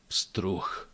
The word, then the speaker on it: pstruh: Let's add t, pst, pst, pst. Let's add ru, pstru, pstru. And the last sound is actually ch in this case, because it becomes unvoiced at the end of the word.